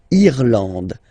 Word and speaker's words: Irlande: Remember, this is E, and it should be pronounced like E. Irlande. Irlande. Okay, A-N, en, D, and final E, not pronounced.